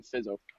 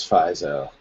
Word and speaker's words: Fizo: Well, before I knew him, I called him Fizzo, so it's okay. I've admitted it. Yeah, it is Fizo. Thank God. I was like, I'm pretty damn sure it would be pronounced Fizo, but yeah.